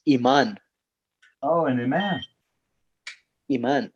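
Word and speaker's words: imán: It's iman.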